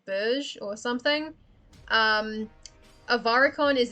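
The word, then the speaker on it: Bourges: if anyone would um i believe that's pronounced bourge like the town of borges or berge or something avaricon is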